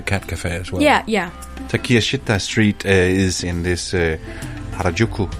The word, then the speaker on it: Takeshita: My number 2 is Takiya Shita. I believe that's how it's pronounced. I went into Takeshita. Takeshita. Takiya Shita. That's at least what Google Translate said.